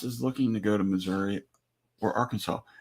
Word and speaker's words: Missouri: Drops is looking to go to Missouri or Arkansas. I was informed today that it's pronounced Missouri. Missouri?